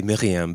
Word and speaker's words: Myriam: See, when I speak in French, I have to say Myriam, but I can't manage to pronounce it correctly when I'm speaking in English.